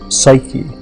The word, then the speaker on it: psyche: given a name and the name was suuk in Greek psyche uh is how we pronounce it now and the word means